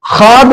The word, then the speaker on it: خواب: تو اس میں وہ جو ہے یہ لکھنے میں آتا ہے، املا میں تو آتا ہے، لیکن پھر یہ پروننسیشن تلفظ میں یہ ساکن ہوتا ہے، یہ متحرک نہیں ہوتا، یہ سائلنٹ ہوتا ہے.